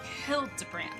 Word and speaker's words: Hildibrand: necessarily expect it, but I mean it is Hildebrand, so expect the unexpected. Since parting ways, I've searched every alley in Diear in Evere for signs of this Hildebrand character. It's pronounced Hildbrand.